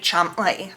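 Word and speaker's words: Cholmondeley: Next up is Mary Chumley, and I'm gonna put the spelling of her name down here because I don't understand how that translates to Chumley.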